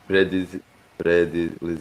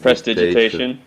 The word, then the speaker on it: prestidigitation: Predilegitation. Prestidigitation.